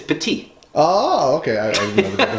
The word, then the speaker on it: Petit: Yeah, I called Remy Petite for the first time. And instead of petit, like I pronounced the last T.